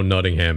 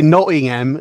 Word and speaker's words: Nottingham: a little bit i i didn't think we pronounced the t's anymore guy would happen if you if you want me to say nottingham it's not a m there it is it's the only way to say it that's it next up